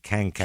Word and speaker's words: Kankakee: They pronounce it with a G in there, like Kankakee. Kang? Yeah, like one of the Simpsons aliens, Kankakee, Illinois.